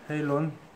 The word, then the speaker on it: Halon: 오늘 소개시켜 드릴 활은, 리뷰할 활은, 매튜의 헤일론 X입니다. 네, 헤일론 X. 한국식 발음으로 하면, 네, 하론이라고 하겠죠? 네, HALON. 예, 영어식 발음은 헤일론입니다.